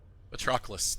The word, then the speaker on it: Patroclus: Patroclus. Okay, that's how you pronounce it. It's such a weird word to read, and I want to say Patroclus. Like I want another consonant in there.